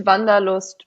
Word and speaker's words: Wanderlust: Because I think this is the closest word to it in English, and that's… people in English might pronounce it wander-lust but Wanderlust, right?